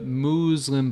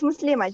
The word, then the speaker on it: Muslima: was way off ah I said muslim and it's it's Muslim has addition no it's muslima just muslima oh okay okay go